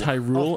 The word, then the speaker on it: Hyrule: actually would like a high roll here it's actually pronounced Hyrule and it's where Zelda lives I would like oh